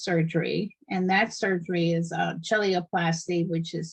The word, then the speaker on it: cheiloplasty: Now, so we talked about the treatment is surgery, and that surgery is chelioplasty, which is spelled CHEILOPLASTY.